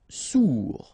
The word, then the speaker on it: sourd: Sourd, final D not pronounced, O-U together, ou, sourd.